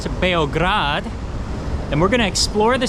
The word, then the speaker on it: Beograd: So today we're in Belgrade, or more properly pronounced Beograd, and we're gonna explore the city and see what it's like in the capital of Serbia.